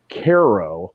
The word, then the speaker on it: Cairo: you a weird feeling it's called Cairo but it's spelled Cairo yeah there's always it's